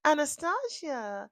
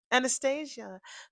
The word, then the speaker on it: Anastasia: Anastasia says, "Anastia, lovely as always." I mean, Anastasia, I got to make that a long a not short. Anastasia, lovely to see you as always.